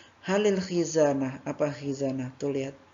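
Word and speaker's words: هَلِ: Hal, ketika sudah bertemu dengan alif lam, dia bukan bacanya hal, tetapi ditambahkan kasroh. Halil, seperti itu.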